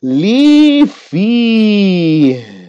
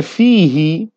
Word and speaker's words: فِيهِ: There's H there. You want to pronounce it. ثُمَّ بَارِكْ Li-fi. If someone said fihi, no, it's not. Don't say fihi, just stop on the H.